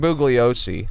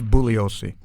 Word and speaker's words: Bugliosi: Vincent Bugliosi, asshole, wrote this. I don't think he pronounced the G. I think it was Bugliosi.